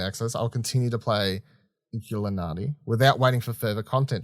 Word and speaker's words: Inkulinati: Inkulinati? Inkulinati? Inkulinati? Yeah. I think it's meant to be Illuminati, but instead with Inkulinati, yeah.